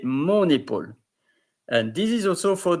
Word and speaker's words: mon épaule: But here you don't say ma épaule, you say mon épaule.